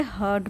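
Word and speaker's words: heard: यहाँ पे are silent होता है, इसे हर्ड प्रोनाउंस करते हैं।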